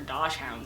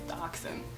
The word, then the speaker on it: dachshund: And I would always talk to Miss Dively about her dosh hounds, and finally she was like, that's not how the word is said, it's dachshund.